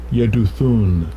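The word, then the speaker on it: Jeduthun: Yeduthun.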